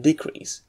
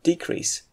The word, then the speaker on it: decrease: situation when not only you should stress the second syllable when he using it as a verb but you should also vocalize this sound it's increased but to increase and decrease but to decrease take a look mower